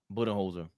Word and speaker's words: Budenholzer: Budenholzer.